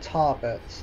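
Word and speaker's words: Tarbet: The next stop's Arica and Tarbert. That's how you say it.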